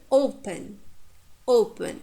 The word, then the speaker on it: open: And now here, open, open. It's wise words. The second syllable is short. Therefore, we stress the first syllable.